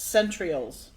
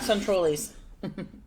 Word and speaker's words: centrioles: I know how to pronounce it. It's centrioles. Centrioles. Not centroles. Centrioles.